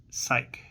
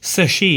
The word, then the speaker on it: Psyche: not first shown him psych. I'm going to look that up real quick. Sashi is how you pronounce it. I was completely way way off.